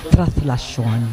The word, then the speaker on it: Traslacion: I remember one priest, actually it's being pronounced as Traslacion. Yes. But well, of course, Traslacion, For us Bicolanos.